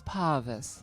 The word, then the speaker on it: Parvis: joke at Parvis because I got his name wrong, and I just get Parvis. everyone's names wrong. Parvis, darling, it's Parvis.